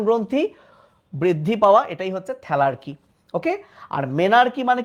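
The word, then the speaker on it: thelarche: ম্যানার্কি, এটাকে আবার আগের বইয়ে ম্যানার্চি বলতো, বাট উচ্চারণ ম্যানার্কি, পিউবার্কি, থ্যালার্কি।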